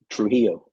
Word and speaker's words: Trujillo: So this Gustavo, how you pronounce his name? Trujillo.